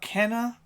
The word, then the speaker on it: Kena: want to talk about kenna bridge of spirits i think it's kinah actually i think that's how they actually pronounce it in the game but don't sleep on